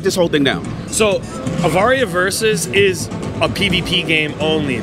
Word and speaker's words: Avaria: So tell us about, how do you pronounce it? Avaria?